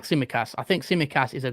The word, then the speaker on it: Tsimikas: Yeah, I would agree with you with Rudiger, Zubair, because Tsimikas, I don't know how to pronounce his name. Tsimikas. Yeah, it's Tsimikas.